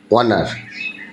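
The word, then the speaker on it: honour: তারপরে লক্ষ্য করো অনার, এই যে এখানে সাউন্ড আসছে কি ও, তাহলে বসাইতে হবে কি এন।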